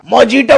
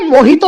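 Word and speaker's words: Mojito: मोजिटो पिएगा मोजिटो। ओ जंगली बिल्ले मोहितो होता है वो मोहितो।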